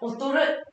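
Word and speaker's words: 劣る: Và chất lượng sản phẩm đi xuống chúng ta sẽ có cách đọc là gì đây? Otorimasu. Được không? Otoru.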